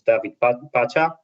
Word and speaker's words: David Pacha: as you said um my name is david pacha that's the the pronunciation but you are quite close uh and this is